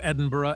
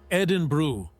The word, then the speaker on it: Edinburgh: Another tour guide in Scotland told me about a group that kept referring to Edinburgh as Edinburg, no matter how many times she corrected the pronunciation.